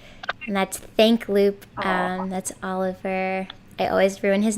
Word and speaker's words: Oliver: That's Oliver. I always ruin his name. It's supposed to be pronounced in a more French way, and it's awesome.